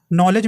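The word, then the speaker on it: knowledge: में P silent है नॉलेज में के साइलेंट है उसी प्रकार देखिए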